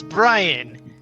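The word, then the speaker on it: Br'iyain: Oh, my name is Brian. It is spelled B R apostrophe I Y A I N. Yeah. All those are silent.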